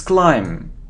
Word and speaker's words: climb: it's B it's behave it isn't climb but it's climb so we don't pronounce B it's climb okay how do we